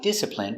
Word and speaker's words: discipline: Stress only. First syllable. Discipline. Discipline.